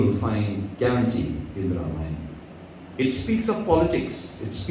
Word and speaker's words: Ramayana: When we speak of Ramayana, Ramayana, 3 syllables, it means the lake of the deeds of Lord Rama.